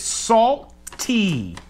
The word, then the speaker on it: SALTT: pretty packaging yeah and it's salt te so you salt and then you over pronounce pronunciate the last T salt T whatever salt not salt that's